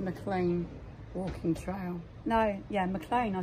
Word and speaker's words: Maclean: No, yeah, Maclean, I said it right.